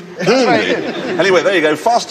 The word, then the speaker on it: Hyundai: They must have worked their way down a fairly lengthy list of manufacturers because they've ended up with this Hyundai Elantra.